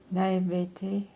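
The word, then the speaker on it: naïveté: Oh, you know, I can't pronounce this word. Na.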